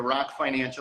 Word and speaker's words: Rok Financial: The C is silent. We're Rok Financial. Okay. It just looked like broke to me.